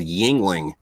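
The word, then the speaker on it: Yuengling: the east coast but it's called yingling but it's spelled youngling but instead of that u there's an eye there and uh it's it's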